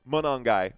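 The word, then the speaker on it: Monangai: I remember covering the game during the preseason and you guys were like, "That's not how you pronounce his g his name. It's Manongi."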